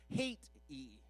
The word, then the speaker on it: Haiti: It's not Haiti. It's got to be two long syllables, and it sounds like you really dislike the country. Hate-y.